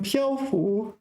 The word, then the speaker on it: 漂浮: In 漂浮, 1st tone.